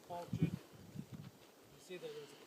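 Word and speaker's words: Qualchan: see on their deck you spell it qualu but it was qualin you see that there's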